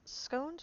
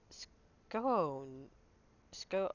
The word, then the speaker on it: scone: that in educated circles scones rhymes with bones like scone SK oh uh not scones like we've been saying count either forget what